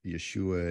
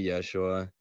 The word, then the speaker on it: Yeshua: We have that sh sound that's lovely, so we can say Yeshua. The Greek didn't have that, so Jesus was about as good as they could do for Yeshua.